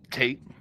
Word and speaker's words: Tate: But I mean, like speaking of hate, we know it rhymes with hate. Tate.